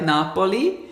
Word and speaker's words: Napoli: in milkshake blonde R I think in Italian it's actually pronounced something like Napoli and uh I in